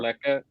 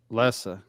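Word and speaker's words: Leça: winner If of our they game beat- plays Paredes or yeah, Paredes or Leca. Lessa. Come on, dude. Lessa. There's a cedilla underneath the C.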